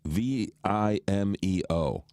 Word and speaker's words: Vimeo: Vimeo has 5 letters and 3 syllables.